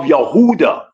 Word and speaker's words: Yehuda: like the descendants of Yehuda or Huda which is the true pronunciation of Judah Mr.